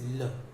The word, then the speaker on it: le: The pronunciation is ल. उसका उच्चारण हम ल की तरह करते हैं, ल, है ना. हम थोड़ा सा ल को एक्सटेंड करते हैं, खींचते हैं बोलते वक्त, ल.